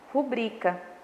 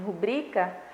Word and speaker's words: rubrica: Então, nós temos aí em rubrica, eu posso classificar essa sílaba tônica aí como paroxítona, tá?